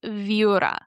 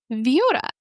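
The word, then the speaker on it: Viura: The next one is called Viora.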